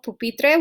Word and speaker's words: pupitre: vowel n or s then the stress is in the next to the last syllable so we have in here so which one is the last level of pupitre will be um p right so that's where you're going to put the accent the natural stress okay